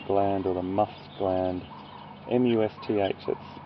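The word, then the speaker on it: musth: M-U-S-T-H, that's spelled, everyone. M-U-S-T-H. It's a little bit of a mouthful. Must. So you say the M-U-S, must, and then th at the end, must.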